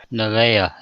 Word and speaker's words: Nevaeh: Nathan hello Navy Navy that's heaven spelled backwards correct then how would you pronounce that if you were looking at work hold on my wife works for Intel I was pronounced at nerve I probably I don't know how you actually pronounce it I was gonna say that they they what's the next CPU my wife says neva no no Vale Nevaeh is how she says mispronounced Nevaeh oh that's